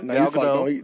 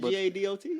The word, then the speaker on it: Gadot: Gal Gadot. Now he done already fucked it up. He butchered it. G-A-D-O-T, right? Yeah, but it's Gadot. We gonna say Gadot.